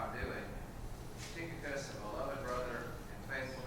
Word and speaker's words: Tychicus: Tychicus is the best pronunciation that I could find, like a tick.